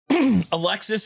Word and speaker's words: Alexis: The S is silent in her name.